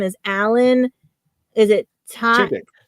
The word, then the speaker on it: Tudyk: we posted about was for, and I cannot pronounce his last name, is Alan. Is it Tudyk? Tudyk.